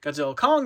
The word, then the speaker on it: Godzilla x Kong: Kong the new Empire or just Godzilla Kong the new Empire because apparently the x is silent and I said I'm